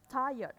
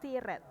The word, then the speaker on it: tired: there are you Toyota ini bacanya tayet bukan tired gitu ya tired tired biasanya anak-anak tired gitu tayet airnya enggak dibaca Oke jawabannya gede evening